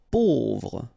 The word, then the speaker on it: pauvre: Pauvre, A-U together will produce this O sound, pauvre.